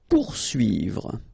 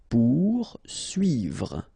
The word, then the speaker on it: poursuivre: Poursuivre. Okay, so remember that when you get this combination of O and U, you will get the sound OU. Okay, so pour, and then U and I here, UI.